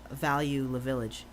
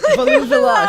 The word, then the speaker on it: Value Village: I have this lovely his name is Value La Village. Value the Village. Value Village. I'm sorry, I pronounced his name wrong.